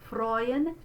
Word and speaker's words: freuen: So we're going to do this EU spelling as this diphthong. Oi, freuen sich. There's that word again. Mein Leib und Seele freuen sich in dem lebendigen Gott.